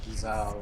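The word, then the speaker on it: Gysahl: Good old Gizal greens that nobody knew were pronounced Gizal until lightning returns.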